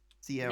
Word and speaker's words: Sierra: Sierra. That's cool. Sierra. Yeah, that's cool. I have to remember it's a ra, not a la.